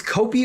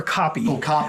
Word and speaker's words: kopje: I don't know if it's Kopi or Copy, but it's spelled Kopje.